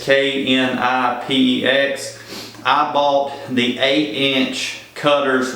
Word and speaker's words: Knipex: It's Knipex.